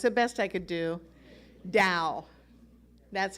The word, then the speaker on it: Tao: to my earlier memories how come t-a-o sounds like d-o-w well i'm not chinese i cannot answer that question it sounds like dao the correct way to say it is dao like the dow jones industrial average i know it's the